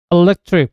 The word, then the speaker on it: electric: electric behind에서 관심 있게 보실 부분은 여기에 있는 모음 E 발음에 관한 겁니다. 우리는 대부분 electric, behind 하는 발음으로 알고 있는데요. 원어민들의 절대 다수는 electric, behind 라고 발음합니다. 이건 5개의 모음 A, E, I, O, U가 단어 안에서 약강세 위치에 있을 때는 모두가 똑같은 발음, 중모음 어로 발음된다는 건데요.